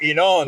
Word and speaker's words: Inon: Inon.